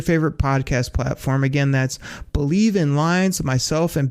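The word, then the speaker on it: Bleav: That's called Believe, and that's spelled B-L-E-A-V in Lions, Believe in Lions with myself, and Lions legendary safety, Benny Blades.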